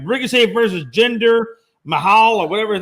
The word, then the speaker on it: Jinder Mahal: hope I say his name right, Ricochet versus Jinder Mahal or whatever his name is next week is going to be for the belt. And I know I said his name wrong, Logan. You correct me. Jinder Mahal.